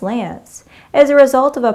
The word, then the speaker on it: LAANC: to test your knowledge low altitude authorization and notification capability pronounced Lance as a result of